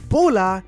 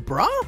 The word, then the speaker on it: Bulla: But wait, is her name Brah or is it Bula? Well, in Japanese, her name is spelled Ba because the L sound doesn't exist in Japanese. However, if you call her Brah or Bullah, both are technically correct.